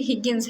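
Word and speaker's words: Higgins: Sorry pronunciation में हिजेंस बोल रही हूँ, ये एग्जैक्टली हिगिंस है, ओके।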